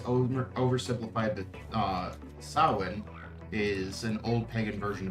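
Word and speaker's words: Samhain: LMS says it's pronounced sawin. So, it's written Sam Hay, but it's pronounced sawin.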